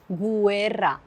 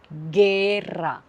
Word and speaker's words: guerra: Je ne dis pas guerra. Je dis guerra. Aussi dans le mot alguien, je ne prononce pas le U.